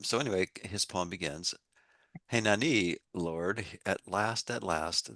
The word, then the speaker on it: Henani: Um so, the the first poem of the morning is Henani, here I am in parentheses. And that's spelled h e n a n i.